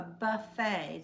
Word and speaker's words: buffet: where there is a buffet that's from French evidently because it's this tea is silent but it's Buffet the food is out